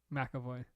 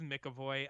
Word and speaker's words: McAvoy: oh that makes sense by the way it's James McAvoy McAvoy no it's Mickey boy I've watched interviews with